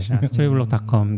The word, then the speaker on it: Storyblok: 스토리블록.닷컴 네. 많이 사랑해 주시면 좋겠습니다. Block입니다. 블록이 BL CK가 아니라 스토리 BLOK. 네. 그리고 이게 또 발음은 똑같은 거 같아요.